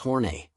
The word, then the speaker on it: Horn: Another of his characters, Tyrone F. Horn, pronounced Horne, was a creepy old man who spent every episode unsuccessfully flirting with Ruth Buzzi's character, Gladys Ormsby.